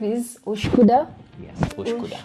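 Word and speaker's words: Üsküdar: Yes, Uskudar. Uskudar. Thank you for pronouncing it.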